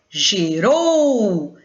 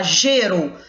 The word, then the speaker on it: gerou: exemplo a palavra gerou quando nós a chamamos gerou é aquela sílaba que se prolonga ao ser pronunciada é justamente a sílaba tônica você não fala geru você fala gerou assim como você fala